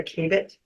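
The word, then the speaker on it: Khaibit: How do you pronounce it? Kaibit or Kabit? The Kaibit? The Kaibit, okay.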